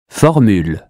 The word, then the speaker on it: formule: Formule. U or OU? U as in hue. Formule.